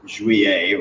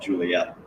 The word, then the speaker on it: Jouer: all of our pairs one of those is jouer or as people call it juliet because that's the way it's spelled uh it wasn't quite